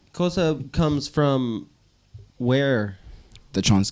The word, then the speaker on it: Xhosa: honestly let's hold on let's rewind just a bit cosa sorry I said it wrong my bad cosa comes from where the